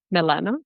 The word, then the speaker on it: Milano: First of all, thank you for pronouncing my last name so well, Milano. It's the right way.